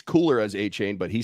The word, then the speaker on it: Achane: It's spelled Achane. It's cooler as Achane, but he says it's Achane, so it's Achane.